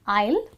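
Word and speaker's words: aisle: सा कन्फ्यूजिंग है क्योंकि इन the word आइल द एस is silent which means S को आप प्रोनंसिएशन में नहीं कंसीडर करते इसीलिए इसका प्रोनंसिएशन होता है आइल एंड आइल का मतलब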